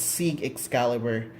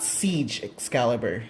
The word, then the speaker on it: Sieg Xcalibur: So it's Sieg Xcalibur, not Siege Xcalibur.